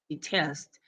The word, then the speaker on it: detest: You mentioned that my first verb is loves and my second one is detest. But in this case, the word detest takes the stress, but only the last part, which is test.